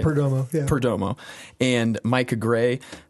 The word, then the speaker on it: Perdomo: Perdomo, is that pronouncing it right? Perdomo, yeah.